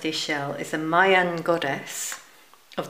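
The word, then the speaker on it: Ixchel: what it says Ah it shows you how to pronounce it Isel pronounced Isel is a Mayan goddess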